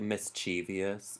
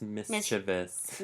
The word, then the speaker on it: mischievous: sometimes I might often I like mischievious it's mischievous yep crazy oh yeah there's no extra like syllable in there I don't like that